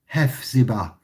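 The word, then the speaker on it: Hephzibah: How do you spell that, David? Hefzibah, H-E-P-H-Z-I-B-A-H, Hefzibah.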